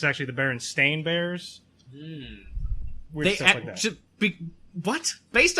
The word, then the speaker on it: Berenstain: other no no because who would think to say stain is the way it's spelled exactly it'll do a